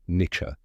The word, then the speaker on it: niche: YouTube did you know Niche comes from the French word nicher meaning to Nest that makes sense because a niche is like a perfect little spot for something now let's talk about spelling it's spelled ni i c h e some people might overthink it but it's just Niche let's say it one